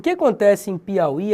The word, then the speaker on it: Piauí: O que acontece em Piauí é o seguinte. Observe que Piauí, a sílaba tônica é esse I aqui. Só que esse U aqui é uma semivogal. Semivogal separada de vogal é um falso hiato.